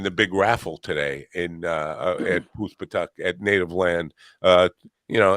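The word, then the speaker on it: Poospatuck: Spell that. Puspatuk. Poos, P-O-O-S-P-A-T-U-C-K. Puspatuk.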